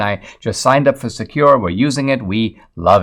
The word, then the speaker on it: Sekur: I want to tell you about Secure. It's spelled S-E-K-U-R. Secure offers secure instant messaging and email hosted in